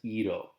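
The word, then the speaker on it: -ido: either and you're gonna replace it with I do pronounced as Ito so again you're gonna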